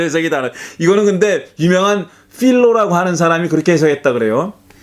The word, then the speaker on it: 필로: 이거는 근데 유명한 필로라고 하는 사람이 그렇게 해석했다 그래요. 이 필로를 이 미국 사람들은 다 파일로라고 읽더라. 파일로. 어쨌든 우리는 필로라 그러죠. 필로라고 읽는데 그 필로라는 사람이 이 그 구약 성서의 내용들을 굉장히 알레고리컬하게 해석한 사람이잖아요.